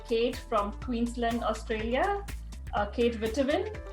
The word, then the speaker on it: Witteveen: Kate Witteveen. Am I pronouncing it right? Yeah, pretty Witteveen, but yeah, Witteveen's pretty good.